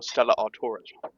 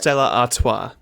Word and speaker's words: Stella Artois: Bro, I need to get more Stellar Artoras. You're saying it wrong as a bit, right? Yeah. Because I don't know how it's pronounced, so I'm just saying. Stella Artois. Artois.